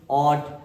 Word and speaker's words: ought: ऑट। क्योंकि इसमें क्या होता है? GH या GHT हो तो GH को साइलेंट करके केवल टी का साउंड पढ़ते हैं।